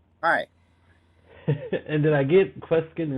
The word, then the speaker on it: Kweskin: And did I get Kweskin right?